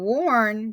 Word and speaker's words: warn: a good grade and warn sounds like it's or but it's really spelled with the ar so that is also